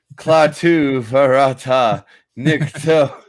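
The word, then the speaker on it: Klaatu barada nikto: Oh God, Klaatu Varata Nikto.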